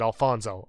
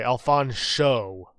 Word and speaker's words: Alfonso: this game alfonso cruz pronouncing the sh sound is very important he gets offended if you pronounce it alfonzo okay alphon show barbershop bill even though